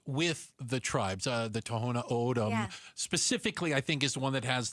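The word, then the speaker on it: Tohono O'odham: Uh, the Toona ODM specifically, I think, is the one that has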